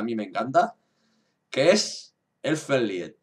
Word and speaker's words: Elfen Lied: Pues a mí me encanta, que es Elfen Lied, o Elfen Lied, como se pronuncia realmente.